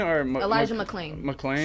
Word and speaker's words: McClain: Oh man, McLean or Elijah McClain.